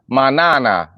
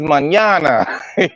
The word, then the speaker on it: mañana: The nigga saying manana. I'm like, no, niggas mañana.